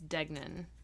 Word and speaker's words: Degnan: know she's a cutie denan dgan it's degnan that's what it is okay I didn't write